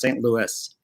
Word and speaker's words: St. Louis: I never know which one they want to pronounce it. Like it's St. Louis. The S, St. Louis.